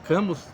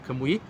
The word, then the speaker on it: Camus: Algumas pessoas chamam de Albert Camus, mas a pronúncia correta é Albert Camus.